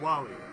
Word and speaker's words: Wily: Like Wally. The way Dr. Light says Wily, he says Wally.